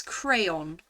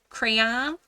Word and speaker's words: crayon: How do you pronounce crayon? Crayon. 2 syllables. Crayon. But not like crayon. Crayon? Crayon. Because it's clearly an O-N here. O-N. Crayon, not crayon.